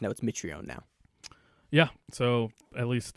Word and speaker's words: Mitrione: patrón patrón Mitrione apparently his name is actually me tree on me tree but he like changed it he changed the pronunciation of it when he started in May